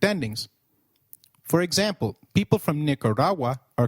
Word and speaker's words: Nicaragua: Gu when followed by another vowel like in gu is pronounced like in gwen. So let's try saying nicaragu again. It is nicaragu.